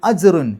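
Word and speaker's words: أَجْرٌ: ഫലഹും അജ്റുൻ, ജീമിന് സുക്കൂന് വന്നു, കൽക്കലത്തിൻ്റെ അക്ഷരമാണ്, എടുത്തു പറയണം.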